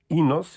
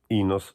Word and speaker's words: Enos: para torná-la curta, afinal, o Inos, escrito Enos, pronuncia-se Inos. Inos não é mais do que a transcrição fonética.